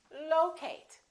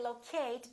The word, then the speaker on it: locate: at the next one is it locate or locate it's the first one again it's locate locate be careful you probably a lot of people say locate because they're thinking of the word locate sometimes when we change